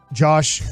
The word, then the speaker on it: Yosh: Left tackle, Josh. Yosh. Starts with a Y.